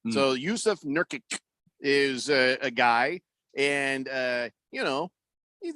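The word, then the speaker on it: Nurkić: My problem with Yusuf Nurkic, there's no H in his name.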